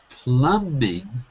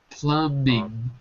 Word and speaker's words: plumbing: oh listen to me pluming plumbing plumbing was there's no B the B is silent pluming listen to meing say